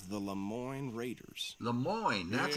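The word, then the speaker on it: Lemoyne: of a gang called the Le Mo Raiders Le Mo that's how you pronounce it i r any of them let's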